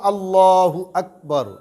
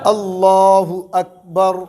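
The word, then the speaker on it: الله أكبر: এই শব্দটা হইল আল্লাহু আকবার। আল্লাহু আকবার, আল্লাহু আকবার। এটা বলার সময় মুখটাকে একটু গোল করব, দিলটাকে দিল থেকে উচ্চারণ করার চেষ্টা করবে, মুখটা ভরা থাকবে।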